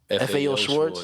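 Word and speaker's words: Schwarz: you said that's the biggest toy store win schwartz that's how you say it biggest toy store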